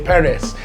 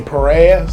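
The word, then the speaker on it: pares: and say it wrong first I'll say peris I'll say it right then I'll get lazy and say Perez it ain't no dang on Perez Dean what are you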